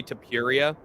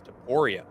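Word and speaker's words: Topuria: him at least, and I say Tapuria, but his name according to Skatesman is Taporia.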